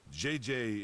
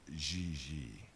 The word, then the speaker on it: JJ: You pronounce J like J and J like G. She may very well be JJ in America, but in France she is Xi.